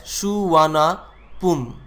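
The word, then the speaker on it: Suvarnabhumi: The name Subarnabhumi is pronounced as Suvarnapum.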